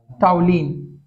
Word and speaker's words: toluene: हुआ है यहाँ पे, और टाउलिन क्यों बोल रहे हैं, क्योंकि इस चीज को हम लोग टाउलिन बोलते हैं। क्या बोलते हैं? टाउलिन। टाउलिन की स्पेलिंग TOLUENE, ये टाउलिन, वो ब्रोमो टाउलिन।